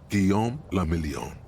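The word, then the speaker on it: Guillaume Le Million: meant only one thing guillaume lamillion if it doesn't rhyme you're not pronouncing it right out of the dazzling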